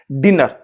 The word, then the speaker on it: dinner: जैसे एक लफ्ज है डिनर, यहां पर लिखा हुआ है डिनर, DINNER।